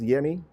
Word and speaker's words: Yemi: that I do and you're known just as yummy exact like French and like share and like